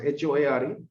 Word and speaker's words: Hoare: Sir Samuel Hoare how you are going to pronounce HOARE Sir Samuel Hoare Secretary of State thile India